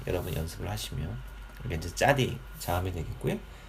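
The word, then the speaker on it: צדי: 다음에 발음은 짜 혹은 차. 근데 실제적인 발음은 이제 짜로 되어 있습니다. 이제 옛날 문법 책들 보면은 이제 차대 뭐 이렇게 식으로 발음이 표기가 되어 있는데 실제적으로 이제 이게 짜에 가까운 이제 발음이 되겠습니다.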